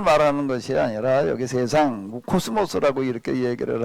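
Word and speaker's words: κόσμος: 뭐라고 읽지요? 코스모스. 영어하고 좀 비슷한 단어들이 좀 이렇게 몇 개 있습니다.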